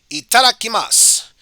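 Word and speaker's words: いただきます: cuisine would be let's eat or as it's pronounced in japanese like that before eating you always say itarakimasu it's a bit like saying let's eat or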